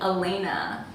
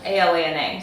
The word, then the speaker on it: Alana: My name is actually Elena, but it's spelled A-L-A-N-A, so everyone called me Alana.